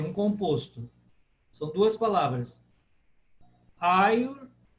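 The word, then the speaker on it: Āyurveda: Ayurveda. Porque o A é longo. Ayurveda.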